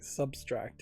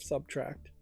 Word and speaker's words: subtract: sometimes mispronounces this things saying substract instead of subtract um but yeah uh